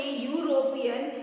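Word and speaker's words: European: ही is dash यूरोपियन, जब आप pronounce करेंगे यूरोपियन तो य की आवाज आ रही है, वाई की आवाज, इट मीन्स वॉवल की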